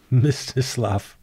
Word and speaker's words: Mstislav: How do you pronounce a name that starts with MST? Mstislav Chernov.